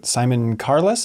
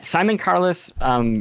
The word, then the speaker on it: Simon Carless: And I know in the past you've cited Simon Carless, is that how you pronounce his name? Yes. As being a big gateway point for you for kind of introducing you to this whole world. Yeah, Simon Carless, for people who aren't